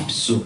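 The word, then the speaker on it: ὑψόω: 이 단어의 원어 기본형의 발음은요 헬라어입니다. 힙스입니다. 힙수. 한번 따라서 힙수. 힙수입니다.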